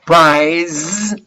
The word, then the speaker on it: prize: a twenty thousand dollar prize in this case is prize there is kind of a vibration when you pronounce price okay i won a